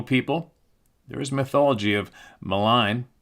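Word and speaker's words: Maligne: There is mythology of malign pronounced melene canyon in Jasper National Park being the location of a great underground cavern system that would house little people.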